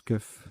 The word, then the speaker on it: coef: 30 avec bref ou coef non ça se prononce kuff c'est au f Angers